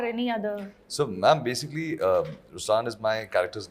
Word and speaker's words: Ruslaan: So even in Ruslan, when you say Ruslan also means the lion, it's the attitude of I am, but the right pronunciation is Ruslan.